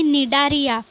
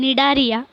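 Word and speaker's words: Cnidaria: जसंच मी मगाशी म्हटलं तसंच की निडारिया हे प्रोनाऊन्सेशन वेगळं आहे आणि त्याची स्पेलिंग वेगळी आहे. स्पेलिंग स्टार्ट सीपासून होते पण प्रोनाऊन्सेशन करताना एनपासून बोलायचं असतं. निडारिया असं करायचं.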